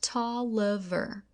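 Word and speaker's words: Taliaferro: me the name of Booker Toliver pronounced tall lever soon after I was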